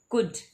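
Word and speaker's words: could: जैसे कि मैं आपको समझाती हूँ, आपको आसानी होगी कि कुड। देखिए कुड में एल साइलेंट है, एल का उच्चारण नहीं हो रहा, तो ये है साइलेंट लेटर, ठीक है।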